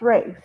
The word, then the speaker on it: Ralph: and Ralph Ray finds the reason I said Ralph is because in America it's pronounced Ralph but in in um Germany or whatever it's pronounced Rafe sorry me no disrespect here